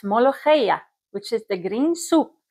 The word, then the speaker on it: molokhia: Molokhia is the Arabic word. You can pronounce it as molokhia.